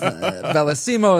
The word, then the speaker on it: Bellisimo: Now that we clarify this and it's bellisimo is like the crownites version of the name. It's Bellisimo. That's that's how you pronounce the name.